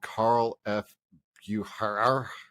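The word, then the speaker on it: Carl F. Bucherer: I was using Google to find it, and I guess they're called Carl F. Bucher.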